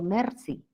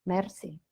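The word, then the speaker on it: merci: la r del francés yo digo Mercy Mercy mi r es alveolar en español Igual pronuncio también la r del francés Mercy y sé que no es Mercy es una r ubular que se debe articular bastante posterior no en la zona posterior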